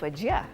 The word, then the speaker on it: Wajir: So how do you pronounce wajir? It's wajia.